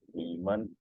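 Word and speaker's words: 你们: the man combines together, it becomes ni man, ni man, ni man. So man is just would just be provided in a quick way.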